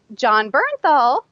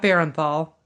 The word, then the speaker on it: Bernthal: it has Liam Neeson Bernthal not Baron Thal nah not burn burn Bell Bernthal not Baron Paul okay I say it